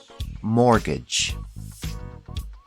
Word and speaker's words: mortgage: call this loan a mortgage the t is silent mortgage another common loan is